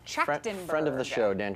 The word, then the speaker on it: Trachtenberg: Danny Trachtenberg. Trachtenberg.